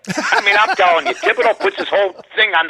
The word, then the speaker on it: Thibodeau: I always have trouble pronouncing that name. Tom Thibodeau.